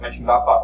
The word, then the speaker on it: Mönchengladbach: I didn't know any guy in USA who can pronounce it. So Mönchengladbach or M-Town, Aachen and Ludwigsburg.